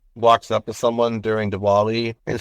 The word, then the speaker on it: Diwali: I'm pretty sure too when it comes to Dali or or Dali sometimes it might be pronounced with a V and um it's that when when someone um walks up to someone during dwali and says happy holidays